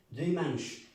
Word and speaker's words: dimanche: ¿Es dimanche o dimanche? Dimanche. Por ejemplo, esta palabra mancha. Manche. Tiene un acento nasal. No se dice manche, no. Como entrenado, manche. Dimanche.